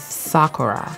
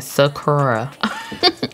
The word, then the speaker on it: Sakura: of the cherry blossom I know the Japanese word is Sakura I've been saying it wrong this whole time I've been saying Sakura Sakura all right so dreamy